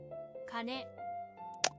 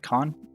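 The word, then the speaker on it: 金: Kane. Gold or money. Kane, kana are the Kanyami pronunciations. Kien, or ken, I guess. Kon is Onyami.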